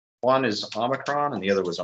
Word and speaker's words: omicron: just kind of test and see if i'm pronouncing those right one is omicron and the other was a megazit utas and